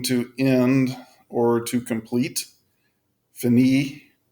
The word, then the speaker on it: finir: at an IR verb phanie with meaning to end or to complete Fanny is a pronunciation for that so here we have